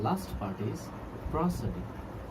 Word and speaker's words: prosody: Our next part is एंड the last part is प्रोसोडी। Mind it's pronunciation, प्रोसोडी, PROSODY, प्रोसोडी।